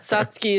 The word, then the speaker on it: Satsuki: And I think Satsuki is the like correct Yeah, pronunciation.